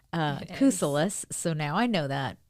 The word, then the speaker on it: Kousoulas: It is Greek, Kousoulas, so now I know that.